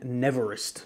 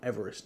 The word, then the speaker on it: Neverest: you pronounce it norcane neverest not Everest neverested a very cool looking